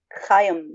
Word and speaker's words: Chaim: Chaim, that's how you say his name.